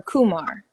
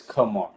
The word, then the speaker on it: Kuhmar: Is it Kamar or Kumar? It's Kamar. Definitely. You said it right the first time.